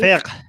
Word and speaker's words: fiqh: Under the fiqh, how do you say it, Armin? Fiqh? F-I-Q-K-A? Fiqh.